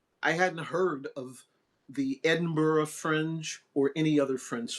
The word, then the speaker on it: Edinburgh: Again, it's not pronounced like Pittsburgh. It's Edinburgh.